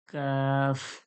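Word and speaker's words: ق: জিহ্বার যে গোড়া রয়েছে, যেখান থেকে কফ বের হয়, ওর সামনে একটু আগে থেকে, ওর সোজাসুজি তালু থেকে, কাফ।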